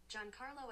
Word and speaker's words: Giancarlo: I think it's Juan Carlo. Okay. But why start with a G? Because Juan is J. I want to say it's maybe. Let me ask Siri how to pronounce that. Okay. Giancarlo Esposito.